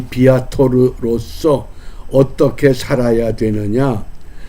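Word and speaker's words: viator: 이 라틴어 단어에 비아토르, 비에이토르 이렇게도 발음합니다. 비아토르.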